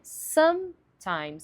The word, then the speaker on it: sometimes: pegando um exemplo clássico sometimes, que significa às vezes. Geralmente as pessoas falam sometimes, sometimes, sometimes. Só que a pronúncia mais clara é sometimes, enfatizando some, que é bem o oposto do português.